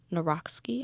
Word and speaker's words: Nawrocki: Then I read Squirreled Away by Mike Nawrocki, I think that's how you say his name.